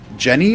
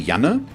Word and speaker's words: Janne: So it's written Janne, which, if I would pronounce it English, would be Jenny or something like that, but I assume it's a male name since you're a random boy, and the German in me wants to say Janne.